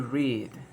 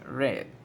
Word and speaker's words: read: pasa con este verbo cuando estén pasado su pronunciación cambia si yo lo digo bien presentes to read to read pero el pasado es red yo he leído un libro esta mañana pero